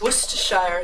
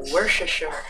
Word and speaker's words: Worcestershire: say it for you honey how it is pronounced is worcestershire sauce and how it is pronounced in my area of america they pronounce it worship and the first time i said that to